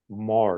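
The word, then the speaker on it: Meagher: woman named name Sylvia Mah now her spelling of her last name is unusual for how it's pronounced it's me a g h r it's an Irish name but pronounced Mar and she wrote the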